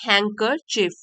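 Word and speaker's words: handkerchief: हैकर चफ हैंकर चफ इसमें D silent है हैकर चफ तो बाद में क्या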